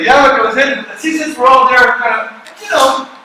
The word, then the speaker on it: tzitzit: How do I pronounce it? Tzitzit.